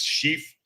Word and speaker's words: Sheaf: All right, Josh, I think it's Sheaf, rhymes with leaf.